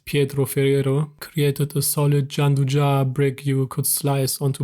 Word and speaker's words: Gianduja: Gianduja, pronounced Gianduja, blends chocolate with roughly 30% hazelnut paste into something unbelievably smooth, and the entire thing exists because of Napoleon.